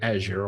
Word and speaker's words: Azure: And I've started using the word Azure all the time now because it's the way they pronounce the product, even though I spent ages wanting to resist and call it Azure, but anyway.